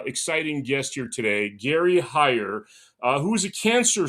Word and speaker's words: Heyer: Uh, today I have a very special guest, Gary Hire. Right, that's how I uh pronounce it.